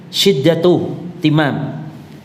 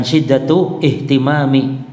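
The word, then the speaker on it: شدة اهتمام: Syiddatuh timam, ini bacanya syiddatuh timam, ini hamzah wasol namanya. Jangan syiddatuh ihtimami, jangan, hamzahnya enggak dibunyikan.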